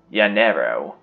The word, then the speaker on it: Llanero: Llanero. For those of you who don't know, the double L's are pronounced like Y's.